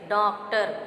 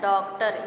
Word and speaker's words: डॉक्टर: डॉक्टर, अब यहाँ आपका चंद्र बिंदु का प्रयोग हुआ है डा के ऊपर, तो ये नाक से इसका उच्चारण जब हम करेंगे तो कहेंगे डॉक्टर, लेकिन शुद्ध उच्चारण इसका है डॉक्टर।